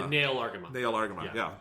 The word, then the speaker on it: Nahel Argama: walks away for the Nail Argama. The Nail Argama. Nail Argama, yeah. It's spelled very, very weird in English. It's spelled like Nahel Argama.